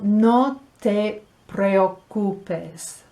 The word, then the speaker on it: no te preocupes: Those two vowels together in that second parte de la pronunciación seem un poco complicado, pero no te preocupes.